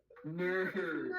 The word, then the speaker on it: Knerv: The K is silent.